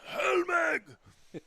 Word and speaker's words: Helme: here at Park and his name was mispronounced on the PA system during this investor day and he he runs over and he screams it's Hellme into the broadcast booth.